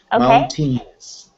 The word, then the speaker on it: mountain: People will say mountains, but imagine that the A is silent.